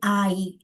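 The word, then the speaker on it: 아이: So we uh we say for child or kid we say I.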